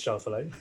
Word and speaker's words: Schauffele: I think it's Schauffele of America.